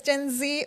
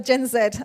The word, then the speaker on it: Gen Z: this right and yes whether it's gen z or gen zed i guess it's either british or an american way of pronouncing it but we know that